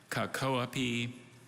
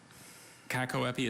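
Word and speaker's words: cacoepy: have all the information sure kakaweppy cat koapi kakoapi uh kakoapi is a noun from greek and it means bad pronunciation you know during the bee i often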